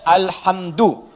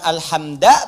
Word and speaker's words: alhamdu: Dibacaannya alhamdu, bukan alhamda pakai fathah atau alhamdi pakai kasrah. Ya, apa bacanya? Du, alhamdu pakai dhammah. Jadi kalau dibaca dalam salat, jangan baca menggunakan fathah alhamda atau kasrah alhamdi, tidak.